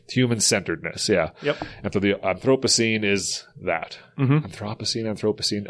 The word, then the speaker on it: Anthropocene: Oh, I say Anthropocene.